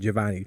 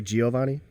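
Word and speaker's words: Jhovany: it they're like I got it javonni because my name is spell JH OVA and why there's H my parents are Mexican they know how to spell they sounded out phonetically well July the 8th it would be Jo shine yeah so why would people do people say Giovanni Giovanni all kinds of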